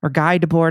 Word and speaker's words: Guy Debord: I think it's Guy Debord, but I'm not sure. Guy Debord. That's how you say it if you're French, but you can just say Guy.